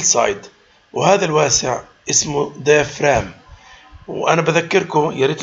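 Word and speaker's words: diaphragm: سايد وهذا الواسع اسمه ديفرام وانا بذكركم يا ريت الكل لما بقول ديفرام الجي لا تلفظ الجي سايلنت ديفرام مش ديفرام نو يبقى معناته ديفرام وهذا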